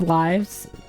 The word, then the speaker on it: Live: I have been told that both lives rhyme with chives. Oh yeah, I guess if you just looked at the Japanese spelling that would that would make it clear on the pronunciation. It should be live, but it's life alive.